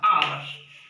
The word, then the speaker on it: hour: जिस देखो HOUR, आवर. ठीक है, एच है साइलेंट होता है.